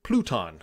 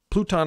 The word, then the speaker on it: Pluton: way to fix that enter pluton or pluton i believe is how you pronounce it i have a